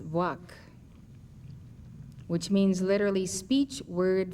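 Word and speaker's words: Vāc: V VA a c I have been told that it may be pronounced Vac which means literally speech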